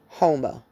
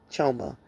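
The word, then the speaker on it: חומה: Homa, right? Pronounced choma.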